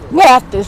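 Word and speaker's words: Mathies: Oh, M-A-T-H-I-E-S. M-A-T-H-I-E-S. Mathis, like Johnny Mathis.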